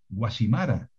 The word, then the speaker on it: Guacimara: que es más yo diría que pronunciar guacimara com con zeta o yaiza con zeta o naucet con zeta es un error un grave error porque son nombres propios